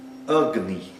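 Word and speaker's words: agni: Eh, ugni. Ugni é um a curto e um i curto também.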